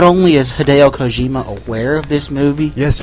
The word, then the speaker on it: Hideo Kojima: Not only is Hideo Kojima aware of this movie, Yes, you pronounced his name right.